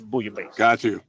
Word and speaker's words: bouillabaisse: And I had to ask, what the hell is bouillabaisse?